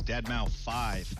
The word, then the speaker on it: deadmau5: is your good friend joel professionally known as deadmau5 yes that is the correct way to pronounce it tell your friends we're here to